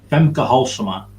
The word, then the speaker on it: Femke Halsema: How do you pronounce that? Femke Halsema.